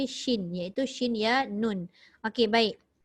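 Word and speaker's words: شين: kata Shindong sebutannya SIM salah bukan SIM tapi Shin yaitu shinya Nun Oke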